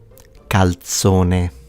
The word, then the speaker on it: calzone: Calzone.